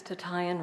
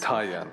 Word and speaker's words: Tatayan: Actually, it's Tatayan, rhymes. Tatayan, I'm Hawaiian.